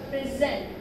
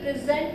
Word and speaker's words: present: So it should be not present, present. So I am presenting a new topic today. Let me present you a new topic.